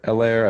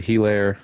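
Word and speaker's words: Helaire: I've heard Elaire, I've heard Hilaire, I've heard Elaire. Not sure how to say it I anymore. thought it was hello. Hilaire. Like hello.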